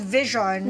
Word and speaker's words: VXON: i know that um that's why you're called vision and it's spelled vx o because you come from